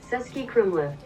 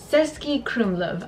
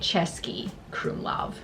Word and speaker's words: Český Krumlov: Wow, yeah, I've been saying it wrong in my head. Český Krumlov. Český Krumlov. I've been calling it Český Krumlov, which is just all around wrong.